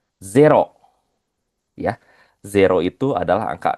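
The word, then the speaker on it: ゼロ: Minasang sama seperti bahasa Inggris tapi pelafalannya ini z ya, bukan zi. Kalau bahasa Inggris kan zero ya. Kalau bahasa Jepang zero ya.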